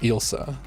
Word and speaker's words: Elsa: just elsa like like elsa some freaky that's pronounced ilsa like the way you pronounce like yourselves would be like yosa yeah that's not even